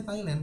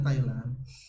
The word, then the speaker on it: Thailand: Ini bacanya Thailand, bukan Thailand. Jadi Thai itu kan kayak suku ya atau kerajaan. Land itu kan tanah. Jadi tanahnya suku Thai.